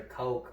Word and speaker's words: Koch: koch brothers really uh they are some of the coach brothers like the movie koc okay it's coke it's spelt no it it's it's kosh no it's coke it's it's spelt kosh or coke or but it's coke they're uh two billionaire